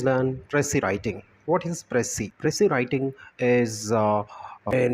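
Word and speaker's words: précis: dressy writing what is Press C pressure writing is uh an important productive study technique so this is pronounced as press C right press C singular press C and plural proceeds this is uh from French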